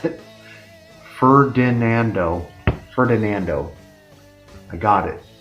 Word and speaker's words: Ferdinando: This band, before Ithaca, it's led by Peter Howell and John Ferdinando. That's not how you pronounce it. Ferdinando.